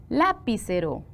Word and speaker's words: lapicero: que siempre hemos hecho se los voy a pronunciar lapicero así decimos no verdad suena mal lapicero así lo pronunciamos no y si yo digo lapicero tendrá sentido no yo digo lapicero se es la sílaba tónica muy bien qué pasa